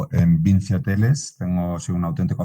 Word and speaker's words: Vincci: enteremos bien de que a pesar de la escritura con las dos C, pues que se pronuncia Vinci, yo voy a hacer